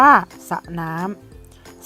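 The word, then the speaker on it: สระน้ำ: แบบ ได้ แก่ 1 ออก เสียง เฉพาะ พยัญชนะ ต้น ตัว แรก เพียง ตัว เดียว นะ คะ เช่น แต่ ว่า สระ น้ำ นะ คะ อ่าน ว่า สระ น้ำ แสร้ง นะ คะ อ่าน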